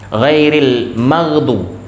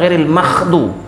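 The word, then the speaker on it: غير المغضوب: perbedaan pengucapan dalam Fatihah ghairil magdu matiin Ada orang baca ghairil makdu tidak boleh Kenapa dia baca makhdu karena dia tekan keluar angin sehingga jadilah huru Kha sebenarnya tidak ditekan di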